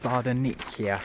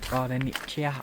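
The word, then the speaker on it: Bardonecchia: I've just found out it's pronounced Bardaniccia, I think. Bardaniccia, something like that.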